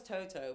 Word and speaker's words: Toto: His name was Toto, but I always pronounced it with a D.